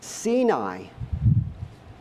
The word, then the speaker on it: Sinai: 1-3 between Al and let's pronounce seni but I'm going to pronounce it Sinai because that's how we always pronounce it right and it complaints